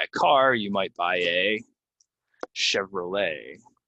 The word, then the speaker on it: Chevrolet: car might buy a Chevrolet right we don't say ET we say Chevrolet so again um a